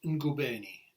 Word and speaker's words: Ngubeni: She's a sculptor and it was painted by Myriam and her second name Ngubeni, n g u b e n i.